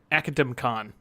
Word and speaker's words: Academicon: It is hilarious how many different ways people think it's pronounced, and I'm like, it's Academy. Convention but it's also academic. It's Academicon.